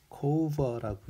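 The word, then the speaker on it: Cover: 그래서 토마스 코버라고 읽고요.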